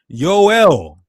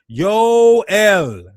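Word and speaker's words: יואל: Yoel. You get the Yo then you get the L you got two vowels.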